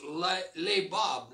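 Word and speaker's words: לבב: In the Hebrew, the word heart is pronounced lebab. Lebab, amen?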